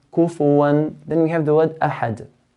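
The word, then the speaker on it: أحد: Then we have the word ahad. The word ahad ends with a dal. And dal is one of the 5 letters of qalqala, so we make an echo sound.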